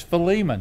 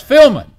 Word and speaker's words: Philemon: divide it the syllables but it's philemon now some will look at me in a lot of settings you go preacher and oh no now that's filming that's filming and avengers we had